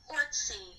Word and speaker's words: Orczy: How to pronounce Emma Orczy? Orczy.